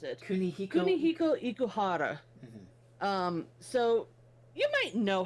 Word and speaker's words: Kunihiko Ikuhara: name real fast so I know how to pronounce it. Kunihiko Ikuhara.